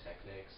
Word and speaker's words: Technick: turntables are actually called Technicks. Some people pronounce them Techniques, but I figured, Technick, it sounds very similar to, Nick.